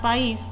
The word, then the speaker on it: país: Fíjense, cuando yo pronuncio la palabra país o la palabra raíz, eh debo hacer una mayor fuerza en la entonación de la voz para que esta eh signifique lo que lo que estoy diciendo.